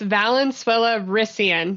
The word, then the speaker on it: Valenzuela-Ruesgen: Yeah, so it's Valenzuela-Ruesgen. So I married Spanish and German together.